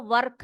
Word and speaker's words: work: का वर्क मैंने उसको वर्क नहीं पढ़ा है मैंने इसको क्या पढ़ा है वर्क पढ़ा है क्या पड़ा है वर्क ठीक है वर्क वाइल यू वर्क यहां पर आर जो है वह साइलेंट है वर्क वाइल यू वर्क